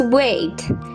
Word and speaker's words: weight: how do you pronounce weight it's like wait number five could you